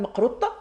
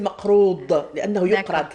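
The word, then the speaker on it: makroud: En fait, c'est pas le maqrout, ta. Si vous prononcez avec un ta, c'est très algérois comme prononciation. C'est comme beta ou fata, etc. Donc, en fait, c'est le maqroud.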